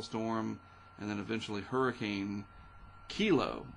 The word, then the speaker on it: Kilo: and then eventually hurricane kilo I think that's how you say it k i l o and uh it'll be headed in the direction uh of Hawaii fortunately it doesn't look like it'll be near Hilo uh kilo headed to Hilo not trying to make fun but it just kind of f odd that it Rhymes right but the western